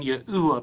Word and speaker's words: Yahuwah: letters of the Tetragrammaton should be sounded out as Ye'u. But we want to go back to the ancient Hebrew sources and pronounce all four letters of God's sacred name. And we tie these language forms together with the evidence from our next timeline. The case for God's sacred name being Yahuwah becomes absolutely compelling.